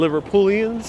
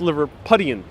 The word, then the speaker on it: Liverpudlian: We have a lot of Liverpoolians, I'll say that for now, that are saying that. So the rivalry is real. Oh, wow. B. Griffin says it's pronounced Liverpudlian.